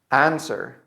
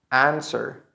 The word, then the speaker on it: answer: Answer. Answer. Now this one, the little tricky part is that the W is not pronounced in this case.